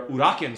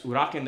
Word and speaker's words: Uraken: blue belts and advanced blue belts, are your Uraken strikes. Uraken is spelled U-R-A-K-E-N.